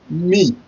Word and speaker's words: mi: Arewa Okomi is spelled as A-R-E-W-A space O-K-A-N Okon space M-I me, just like you're saying me in English.